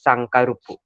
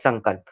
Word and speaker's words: Sankalp: So in Japanese, my name would be pronounced as Sankarupu, not Sankalp.